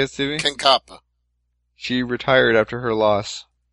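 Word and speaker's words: Kankaanpää: I forgot to mention this in the Invicta talk, but, former Invicta champion Katja Kanapa? Is that how you say it, Stevie? Kankapa.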